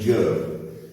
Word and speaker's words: Job: and righteous man named joe it sells j.o.b like john but it's pronounced joe he's upset because he